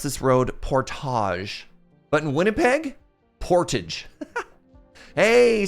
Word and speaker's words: Portage: now most of you would pronounce this Road Portage but in Winnipeg port hey Sam skunkwork thank you for using your Prime here as well Portage Avenue there we go Portage is